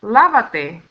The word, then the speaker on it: lávate: Now we have lávate. Now we need to comply with the fourth rule of stress that tells us that on the third to the last syllable or the fourth to the last syllable, we always need a written accent mark or tilde.